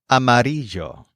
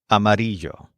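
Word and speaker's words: amarillo: these buildings Gray the word for yellow is amario spelled a m a r i l l o amario for example I didn't know the sky could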